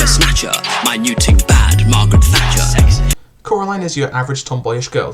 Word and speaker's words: Coraline: the story opens on Coraline Jones not Carolyn as everyone keeps calling her but Coraline I don't care get